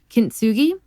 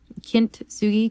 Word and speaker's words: kintsugi: of is uh and i'm probably going to mispronounce this so i do apologize but it's called uh kintsugi kintsugi k-i-n-t-s-u-g-i and that's uh the japanese art form